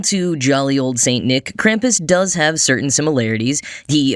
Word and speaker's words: Krampus: increasingly in recent years: Krampus. Or Krampus, if I were to pronounce it slightly more correctly.